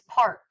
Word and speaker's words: parque: Lake el parque is parque el parque and again that qu as in forest boasts K sounds like a K but remember forget the